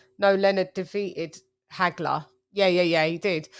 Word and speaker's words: Hagler: just wanted to know agler AG Hagler sorry never pronouncing H's Hagler um okay I just